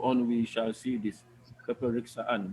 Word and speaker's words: peperiksaan: Peperiksaan. But the K is not very strong, right? Peperiksaan. Peperiksaan. I repeat, peperiksaan. Peperiksaan. Okay. The K is not very strong, but it's pronounced lightly.